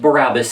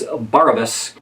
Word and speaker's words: Barabas: It's not pronounced Barabas, it's Barabas. Thus trolls our fortune in by land and sea, and thus are we on every side enriched.